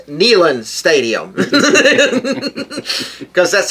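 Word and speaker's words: Neyland: stadium so it's nean I used to say it's Nan Stadium till somebody told me it was nean stadium so I you know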